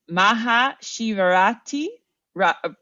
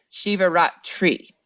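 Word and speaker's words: Maha Shivaratri: more during H and hopefully my pronunciation is not horrible just mildly bad so it's Maha sharti r ah sorry Shiva rat tree so it's more of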